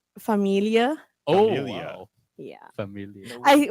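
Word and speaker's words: Familie: I I'm glad you didn't say famili or something like that. Is that like Does that mean something else or No, but I'm like, you know, it's familia. Yeah, there you go. Familia. There's no A in that.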